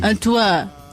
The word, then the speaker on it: Antoine: Antoine. Tá bom assim? Você só não pronuncia o E. Antoine.